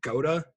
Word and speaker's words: Goda: So anybody familiar with your social media knows that you've been tweeting a lot about I'm gonna pronounce it Goda. Is that how you pronounce it? You got it. Okay. Goda.